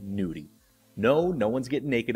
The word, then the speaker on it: gnudi: that you may have not heard of called Gnudi. No, no one's getting naked up in here. It's spelled G-N-U-D-I.